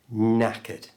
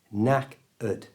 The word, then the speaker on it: knackered: at the end, and we don't pronounce the K at the beginning, so it's knack-ud.